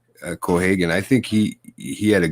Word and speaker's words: Cohagen: Even Copenhagen as a villain in this one, and Copenhagen. Why did I say that? It's the way it's spelled on fucking IMDb. It's COPP or some shit. But yeah, Cohagen.